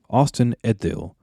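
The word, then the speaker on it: Ost-in-Edhil: Edith Austin eddale oh I always have pronoun uh issues pronouncing that that DH sound yeah that's DH because it's a Germanic word or letter that we don't use in English Danny was trying to help instruct me on how to pronounce that because it's almost like a team yeah or the Yeah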